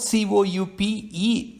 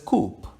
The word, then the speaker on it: coupe: power against a ruler the word c-o-u-p-e is pronounced as coupe which means a compartment in a railway carriage c-o-u-p-e with an accent mark can be pronounced this coupe coupe friends and children